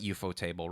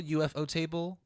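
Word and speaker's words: ufotable: give credits out later but well you're like eupo table right okay before that how the do you pronounce it is it eupo table UFO table eupo table eupo table it's what life's mystery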